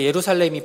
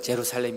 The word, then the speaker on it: 예루살렘: 가지고 다 저렇게 부릅니다 원래 예루살렘이 발음이 더 정확한 건데 그 친구들은 제로 살렘 이라고 부르고 여리고 가 예리 보가